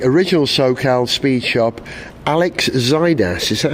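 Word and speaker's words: Xydias: The SoCal, Southern California Special, created by the founder of the original SoCal speed shop, Alex Zaidas. Is that how you say his name? Or Zacchaeus. Zacchaeus.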